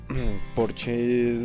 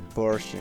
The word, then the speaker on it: Porsche: Este es uno de los porches más especiales que existe en sí. Se dice Porsche, no Porsche, porque yo incluso lo acabo de pronunciar mal al inicio.